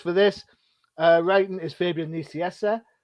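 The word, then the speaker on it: Fabian Nicieza: this uh writing is fabian niciessa um if you think i've said his name wrong i haven't go and check the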